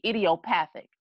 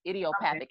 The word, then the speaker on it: idiopathic: idiosyncrasy IDEO excuse me idiopathic idiopathic and IDEO like idiot which is their textbook